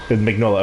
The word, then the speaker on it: Mignola: Yeah, it's 100% true to the Mike Mignola. Mignola. Okay, yeah, it's actually pronounced the way it's spelled.